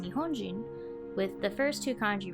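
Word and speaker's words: 日本人: are also pronounced the same this word is pronounced Nihonjin with the first ii kanji retaining their pronunciation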